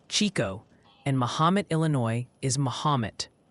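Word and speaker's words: Chicot: Chickett County is apparently Chico, and Mahomet, Illinois is Mahomet.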